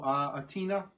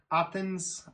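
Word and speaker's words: Αθήνα: the old part through Athena, because that is how the Greek capital is pronounced, I think, in the native Athena, right? Not Athens, it's Athena.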